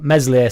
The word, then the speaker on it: Meslier: the Prem right so meslier silent s will start in the